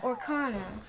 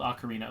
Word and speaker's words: ocarina: Yes, oh, an I can ocarina. finally... So that's how you say it. I always thought you said it like Orkana.